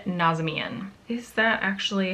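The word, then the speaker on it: Nazemian: My last name is pronounced differently by everyone in my family, but I pronounce it Nazmian.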